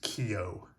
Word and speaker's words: Keogh: My wife said that it's pronounced Keogh, Jerome Keogh. So I'm going to go with that.